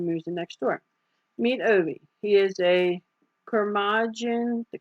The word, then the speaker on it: Ove: I'm assuming O-V-E, that it's pronounced Ove.